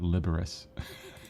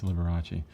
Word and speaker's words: Liberace: at is Robert Liberace I always say in my head I say Robert liberus it's easier to spell it's Liberace uh what I like